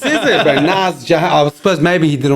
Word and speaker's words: Nas: saying like the rapper Nas, right? He's from Queens, New York. You would pronounce his name Nas, I right? still say Nas, yeah. He goes, it's not Nas, it's Nas. Nas.